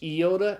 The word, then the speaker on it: iota: content to know that the iota is the Greek I, and it can be pronounced both I and E, okay? Good. So it's iota, and then kappa, it's the K sound.